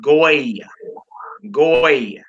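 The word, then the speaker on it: גוי: We would pronounce that goy. The English word, the Hebrew word that means in English Gentile or stranger.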